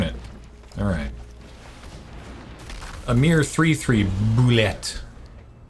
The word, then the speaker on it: Boulette: A mere 3-3 Boulette. I was told it was just pronounced bullet.